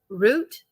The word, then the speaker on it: root: the data yeah okay not rut like boot just separated into syllables how can that have more than one syllable Root Root Root rhymes with boot boot there's no two